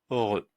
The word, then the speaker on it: heureux: On retient E, heureux. Voilà, ce mot-là se prononce heureux.